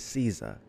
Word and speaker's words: SZA: about to hop into that Caesar and not SAA it's Caesar okay y said I was pronouncing it wrong so it's Caesar all right so without